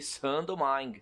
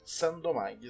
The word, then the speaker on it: Saint-Domingue: É assim que pronuncia? Isso aí, Saint-Domingue. Saint-Domingue, exatamente, que mais tarde veio a se transformar no país Haiti.